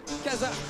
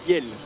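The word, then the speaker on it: Kjell: du côté de leeven Kazar Kazer ou peu importe comment ça se prononce d'ailleurs c'est kel c'est un prénom k j e l l c'est Flam je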